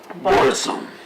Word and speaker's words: Burzum: Burzum.